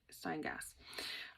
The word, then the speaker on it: Steingass: So the Jennifer Steingass sweater, let me pronounce it proper, Steingass.